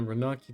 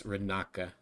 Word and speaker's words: Renaka: It was found in a Renaki temple a few months ago. Actually, I keep mispronouncing it. Yeah, it's Renaka.